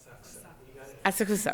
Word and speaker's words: Asakusa: And then correct me if I'm mispronouncing it, Professor Hikata, Asakusa? Is that correct? Asakusa.